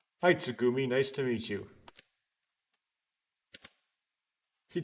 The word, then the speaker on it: Tsugumi: the girl had spoken did i pronounce her name tsumugi the entire time when it was tsugumi i'm going to figuratively